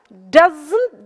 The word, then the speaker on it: doesn't: Итак, doesn't должен такой znt идти взрывом. Помните, я вам рассказывала, кто был на самом первом занятии, что didn't надо произносить со взрывом.